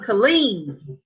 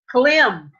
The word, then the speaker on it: Clem: Gene called him Kaleem, like we said, right? But it's supposed to be Clem.